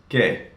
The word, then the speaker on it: qué: It's pronounced qué.